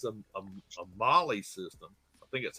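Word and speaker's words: MOLLE: beauty of it all because since it's a molly system i think that's how you say it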